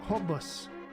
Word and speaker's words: hummus: is um I put I use hummus or hummus which is the correct correct pronunciation. I I grew up in a a Lebanese household so that is the correct pronunciation. correct pronunciation, man. But yeah, hummus.